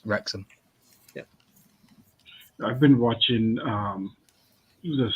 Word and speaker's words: Wrexham: some yeah don't you don't pronounce the w just wrexham i've been watching um